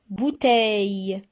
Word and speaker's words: bouteille: Bouteille. Bouteille. Le. Bouteille. Le. Alors, on a 3 syllabes. Et regardez, on a double consonne. LL. Alors, on sépare les deux. D'accord? C'est pour cela qu'on a 3 syllabes.